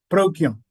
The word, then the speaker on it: Procyon: Hindu beings left the Canis Minor star constellation Procyon. Did I pronounce that correctly? Procyon. Procyon, thank you.